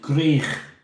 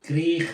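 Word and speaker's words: Gwrych: And Greich Castle, if you're wondering how to say it, Greich. If you're from Liverpool, Greich, mate.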